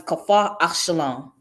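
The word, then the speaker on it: Kfar Shalom: It's pronounced as Kafar Ashalon.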